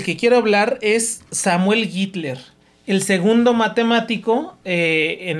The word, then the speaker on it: Gitler: acuerdo dijimos que era Hitler no hit a bueno se escribe G i t l e r pero se pronuncia gitler Samuel gitler no Hitler